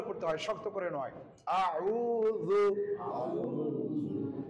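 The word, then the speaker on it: أعوذ: রু দাল পেশ রু আউজু আউজু এখানে আমাদের নরমাল ভাবে হয় আউজু আউজু আউজু আইনটা কণ্ঠনা লিখে চাপ দিয়ে উচ্চারণ করতে হবে আমাদেরকে সহিশুদ্ধ ভাবে পড়তে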